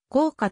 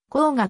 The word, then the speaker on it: 甲賀: いるに過ぎない鋼牙は効果と読むが鋼牙と謝った読み方をされることが多い歌川国貞今源氏